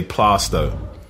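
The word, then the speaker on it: Plaistow: I say, if you're really from East London, you say Plasto.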